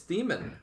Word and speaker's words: Theman: It's Theman. This came up last time I was commentating one of their games. Everyone in comments was just like, "You fool! It's clearly the man."